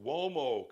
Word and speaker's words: Uomo: Check out the Mario Uomo collection. Mario, M-A-R-I-O, you can spell Mario, but Uomo is spelled with a U. I know it didn't sound that way, but it's U-O-M-O.